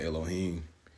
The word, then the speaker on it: Elohim: It does have three different pronunciations, but most of us brothers, we go by Elohim.